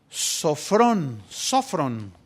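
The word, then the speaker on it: σώφρων: Esta palabra se tradujo del griego sofrón, tiene acento en la primera O, sofrón.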